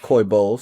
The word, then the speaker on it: Coy Bowles: Coy Bowles, did I pronounce his name correctly? Coy Bowles.